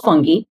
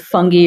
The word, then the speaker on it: fungi: Essentially, they're all fungi, right? And there's lots of different types of fungi or fungi, depending on the way you like to pronounce it.